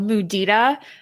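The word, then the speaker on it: mudita: It's um called Muda. It's spelled M U D I T A.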